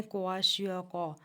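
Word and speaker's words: Kwashiorkor: यह वाली हमारे पास जो है इसको हम लोग पढ़ क्वाशको यानी इसमें दोनों आर जो हैं वह साइलेंट है।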